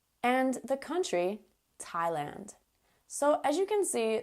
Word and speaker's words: Thailand: TH words that don't sound like TH at all.